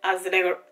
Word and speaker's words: azelaic: So the one before that I have was tretinoin 0.015%, and then 4% niacinamide, and then azelaic. That's how you pronounce it.